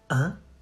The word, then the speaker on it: hein: You say, hein? Hein? Hein? The H is silent, so don't you say, hein? Hein? You say, hein. Like the number one, hein?